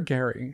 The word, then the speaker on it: Gary: Is it Jerry or Gary? It's Gary. It's spelt like Jerry, and he loves Leslie, and he's stringing Teresa on.